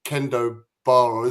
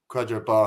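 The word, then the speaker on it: Kwadwo Baah: on, and I think I called him Kendo Barr, so I got his name wrong, which is an absolute shocker. But yeah, Quadro Barr has been a revelation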